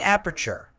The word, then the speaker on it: aperture: Word type: aperture is a noun pronounced as ap-er-ture, meaning an aperture is an opening, hole, or gap, typically one that is small or narrow.